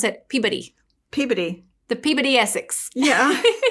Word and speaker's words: Peabody: the Peabody Essex, which, by the way, they pronounce it Peabody. Peabody. The Peabody Essex. Yeah. And we're like, no, it's Peabody. We're from Arkansas. Well, now you know how to say it, Peabody.